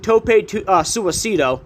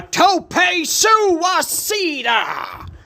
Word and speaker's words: tope suicida: I'm sorry, let me say it the way Mauro Ronaldo says it. A tope suicida! That's how he says it, because he's got to enunciate every fucking syllable in that name.